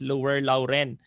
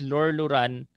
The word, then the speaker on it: Lorloran: Our company, minsan ang pronunciation po nila is Lower Lauren, but the right pronunciation po ng ating company is Lorloran International Corporation.